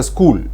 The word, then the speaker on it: school: For example, we can say school, SCHOOL. So in school, the sound K is produced by using a combination CH.